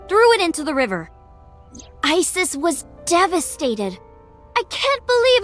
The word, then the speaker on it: Isis: Horace's mom is named Isis, but in ancient Egyptian, it's pronounced closer to Ise or Aset.